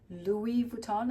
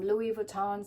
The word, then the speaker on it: Louis Vuitton: I've been corrected a few times, and I'm sorry if I pronounce and if it irks some people that I've been saying with an S. I didn't realize that it is a silent S, and you know, it's